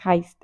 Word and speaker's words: heist: Yo siempre le dije haste, pero creo que la verdadera la pero creo que la pronunciación correcta es heist.